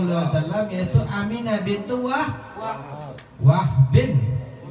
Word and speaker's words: Wahb: Ya, siapa yang bahwasannya nama ibunya Nabi Muhammad sallallahu alaihi wasallam yaitu Aminah bintu Wahbin, bukan Wahab tapi Wahbin bin Abdul Manaf bin Zuhrah bin Kilab.